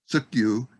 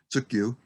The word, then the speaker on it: Tsukyu: And this Tsukyu is the way it would be pronounced in Northern Chumash, Tsukyu.